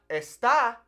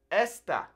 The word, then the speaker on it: esta: I want to say, beware of how you're pronouncing these, okay? Because if I say este, that changes the meaning versus este, okay? It's not esta, it's esta, okay? Very important to not get wrong, okay? Esta. Imagine like there's a little accent on these first E's, okay?